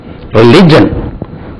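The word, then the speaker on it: religion: ரிலிஜியன் எங்கிருந்து வந்தது ரிலிஜியன் ரிலிஜியன் எல் மேல ஸ்ட்ரெஸ் ரிலிஜியன் ரிலிஜியன் பாருங்க அதே மாதிரி ரிலிஜியஸ்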